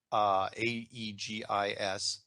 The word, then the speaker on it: Aegis: Warfare Destroyer Program, which is our country's first AEGIS destroyer.